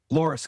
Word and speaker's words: Loras: So, you studied finance and personal wealth management at I hope I'm pronouncing this correctly, Loras College? Loras College, yes.